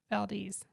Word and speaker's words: Valdez: how you pronounce it Valdes Valdes you got to say it like a local y'all it's not Valdez it is Valdes so Valdes now that's